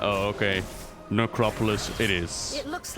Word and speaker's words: necropolis: it necropolis is it necropole no no no no it's like metropolis only necro lords it's like oh okay necropolis it is it looks